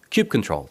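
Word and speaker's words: kubectl: how do you call it how do you pronounce it David you're here Cube Cube control there we go so thank you David for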